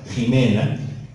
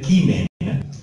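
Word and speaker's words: Ximena: Ahora, claro, ahora es con la J a la moderna, pero es con X y se pronuncia Jimena, debería ser Quimena, que es como pronuncian en latín los alemanes y los polacos, que es la llamada pronuncia restituta.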